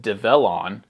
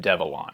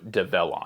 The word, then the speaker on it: Develon: why you pronounce it develon instead of devlon so develon you just say develop but you replace the p with an N develon folks inside develon